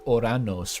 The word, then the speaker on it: Uranus: I think the more original pronunciation is like Oranos, right? I'm pretty sure.